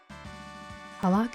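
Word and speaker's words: पालक: Palak is pronounced palak, like party. Parlak.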